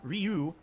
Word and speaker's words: Ryu: Jay Kuma says Zangief, Chun-Li, Ryu, Manon.